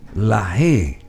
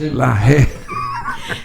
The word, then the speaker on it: Laje: Bueno, Laje, ¿verdad? Así es, esa es la pronunciación correcta. Porque la bestialidad acá dice la Aye, es Laje. Versión ya castellanizada de mi apellido.